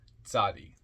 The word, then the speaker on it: Tzaddi: my reign comment on sadii t z a d d i pronounced zadi transcribed as Tey the